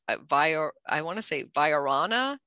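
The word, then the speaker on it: viorna: Viarana is how it's pronounced, or vase vine is I think the common name for that.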